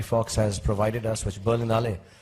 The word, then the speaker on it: Berlinale: has provided us which berlinale am I pronouncing it right berlinale yeah okay they've provided us and